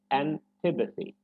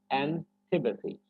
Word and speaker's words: antipathy: So we should say antipathy, antipathy. So tipathy is the part that should be stressed.